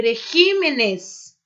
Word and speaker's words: regímenes: Régimen e regímenes. Muda. Caráter, caracteres. Então, ó, caráter, caracteres, né? Exemplos aí com essas duas palavrinhas. Aquel país tiene el mejor régimen político de todos los regímenes que conozco.